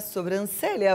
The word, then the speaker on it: sobrancelha: falar corretamente Tem muita gente que erra na pronúncia e na escrita dessa palavra a palavra é sobrancelha vamos aqui E aí Oi Oi Cláudia